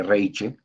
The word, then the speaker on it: Reiche: Azca, la María Reich, se escribe Reiche, o sea, Reiche, ¿no? Entonces sería Reich, porque la Che es una J, ¿no?